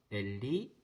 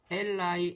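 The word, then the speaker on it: אלי: 엘리 엘리 라마 사박다니. 엘이 하나님 뜻하고 리가 이제 이 소유격 대명사인데 나의를 뜻합니다. 엘라이 엘라이 라마 사박다니라고 읽을 수도 있겠고 엘리 엘리 라마 사박다니라고도 읽을 수 있습니다.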